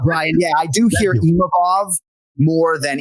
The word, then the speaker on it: Imavov: Yeah, I do hear Imavov more than Imavov. So it's really just about emphasizing that second syllable, Imavov, and not Imavov.